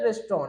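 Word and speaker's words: restaurant: करने का प्रयास कीजिएगा इसको सब कोई पढ़ना है रेस्टोरेंट रेस्टोरेंट नहीं इसको बोलते हैं रेस्टोरेंट क्या बोलते हैं रेस्तरां ठीक है रेस्टोरेंट बोल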